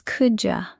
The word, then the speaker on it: could you: Natural: could you help me? Yes, natives connect it like that. Pronunciation tip: could you becomes coulda.